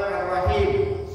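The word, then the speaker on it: الرحيم: Ar-Rahman Ar-Rahim dibaca dengan tafkhim tebal. Ra-nya hanya tebal. Ra bunyi ra.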